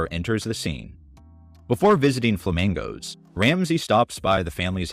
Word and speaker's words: Flamangos: way to the restaurant Gordon pronounces flamingos so Cheryl explains that it's called flamingos you know flamingos and mangoes combined there's nothing more tropical